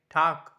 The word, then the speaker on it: Tag: Like TAG, for example, TAG sounds like tak. It sounds like tak.